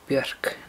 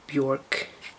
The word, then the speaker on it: Björk: Note how I said Björk, not Björk. I reserve the right to pronounce her name correctly, because, you know, that's my language and all.